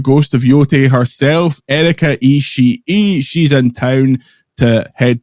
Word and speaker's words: Ishii: her going through the real life Yotie, she pronounced it Ishii.